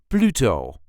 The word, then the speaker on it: Pluto: Pluto is considered a dwarf planet, and we almost say it as it is in English. This is the way we say Pluto. Pluto. Pluto. There is a light emphasis on the first syllable, Pluto.